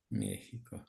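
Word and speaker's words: México: тому що в нас оця літера читається переважно як с і тільки коли йдеться про Мексику і пару там власних назв вона буде читатися як х але в більшості слів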